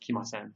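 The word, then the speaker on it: 来ません: And please note that the character here is pronounced ku in the dictionary form, but here, just like with kimas, it's pronounced kimasen.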